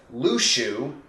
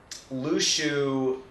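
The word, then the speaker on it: Luxu: The only issue is that we never actually saw, and the official pronunciation now is Lushu, so Sora All-in-One was right the whole time. Lushu, we never saw him interact with anyone other than the Master.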